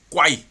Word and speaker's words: 癸: 呢個字癸，真正嘅讀音係癸。 10 天干之一癸水，師傅咧之前喺影片裏邊咧讀過係癸嘅，不過呢，呢